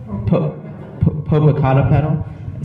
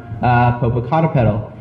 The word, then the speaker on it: Popocatépetl: when he climbed the mountain, how is it pronounced? Popocatépetl.